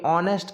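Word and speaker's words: honest: क्यों, क्योंकि ऑनेस्ट का जब अपन इसका प्रोनाउंसिएशन करते हैं तो ऑनेस्ट, ऑनेस्ट यानी ओ से प्रोनाउंसिएशन होता है इसका, यानी कि वॉवेल से प्रोनाउंसिएशन होता है, इसलिए यहाँ पर अपन एन लगाएंगे।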